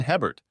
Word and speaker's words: Hebert: "My name is Hebert, pronounced A-Bear in Cajun country.